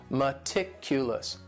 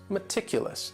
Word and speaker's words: meticulous: And this word has 4 syllables, and the stress is on that second syllable. Meticulous, meticulous. That first syllable also has that schwa, that sound, that reduced vowel sound.